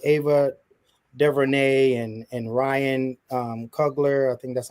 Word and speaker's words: Coogler: So my question is, how have specific Black directors, which is like Ava DuVernay and Ryan Coogler, I think that's how you say it. Coogler, thank you.